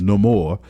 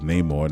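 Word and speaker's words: Namor: job uh Tino huertas no more I like the pronunciation everybody says Neymar now I think everybody's gonna be like no more and it's dope how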